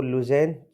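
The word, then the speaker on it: Lausanne: और international Olympic committee का जो हेडक्वार्टर है वो लुज़ैन स्विट्जरलैंड में है। लुज़ैन बोलो, लुज़ैन बोलो, प्रोनाउंसिएशन का थोड़ा दिक्कत है इसमें क्योंकि ऐसे शब्द नहीं। लुज़ैन स्विट्जरलैंड।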